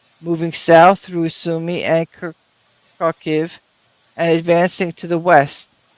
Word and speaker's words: Kharkiv: By the way, with respect to Kharkiv, got some news the other day that Kharkov, the Russian pronunciation of Kharkiv, has now fallen, to the Russians.